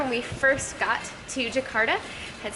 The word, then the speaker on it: Yogyakarta: When they said it, it sounded like Jakarta. And we're like, aren't we in Jakarta? And they're like, no, Yogyakarta.